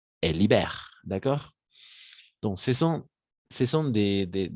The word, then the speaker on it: libèrent: Ils le tuent et libèrent la grand-mère saine et savie du ventre du loup. Excellent, très bien. Attention, ENT. Et il le tue. On ne prononce jamais ENT à la fin.